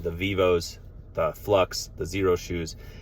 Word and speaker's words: Xero: our favorites are Vivoarbefoot, Xero Shoes, spelled with an X, Xero.